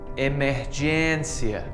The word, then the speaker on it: emergência: You might be tempted to pronounce this like encia, but can you see that little hat above the E? This is like a short I sound in English, that I sound for internet. But you just need to make it a bit longer, like E, fluência, emergência.